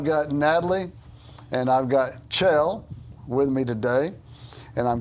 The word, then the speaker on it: Kjell: name yes it is I mean you spell it k j e l two L's two L's how do you get chailed out nobody could get chill out of that I think that that's